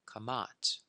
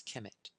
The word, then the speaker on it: Kemet: on the planet, the ancient of Kamat, some pronounce Kemet, the Kamau, or the Egyptians of the Nile Valley.